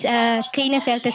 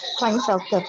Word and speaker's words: Klinefelter: This is Klinefelter syndrome, because we can see that.